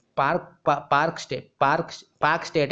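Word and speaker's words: Palk Strait: ए आई टी पार्क पार्क स्टेट पार्क पार्क स्टेट है और एल उसमें जो है साइलेंट है ठीक है एल साइलेंट है पार्क स्टेट बोलते हैं इसको ठीक है पार्क स्टेट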